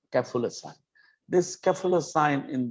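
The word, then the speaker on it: café-au-lait sign: আমি জানি এটা অনেকে পারবেন হয়তো, তবু আমি বলে দিচ্ছি, দিস ইজ ক্যাফুলেসাইন। উচ্চারণটা ক্যাফুলেট বলবেন না, ক্যাফুলেসাইন।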